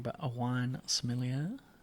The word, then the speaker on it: sommelier: wrong, but a wine sommelier. It's pretty good. Sommelier. Yeah. Someone was telling me I'll just say smelly air, and I feel like that's really insulting.